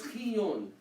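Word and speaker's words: ⲭⲓⲱⲛ: Most deacons will pronounce it shion, means snow. Snow? Means snow. في التسبيح. Imagine, there's actually snow in Egypt. They actually had a word for snow. However, There's also, some will pronounce it as chiyon, Which is the proper way. which is the proper way to say it.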